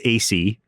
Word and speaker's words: AISI: And can I just be clear, the AI Safety Institute, AISI, is pronounced AC.